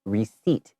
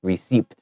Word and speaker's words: receipt: So something to note here is receipt has a P in it, but you don't hear it. It's receipt and not receipt.